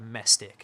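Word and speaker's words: Mehsic: do I I have my name it's called mestic it's spelled me h s i c okay and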